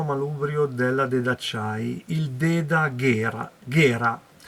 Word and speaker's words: Gera: della Dedacciai, il Deda Gera, però pronunciano Ghera perché ormai io ci avessi messo una H, visto che siamo italiani.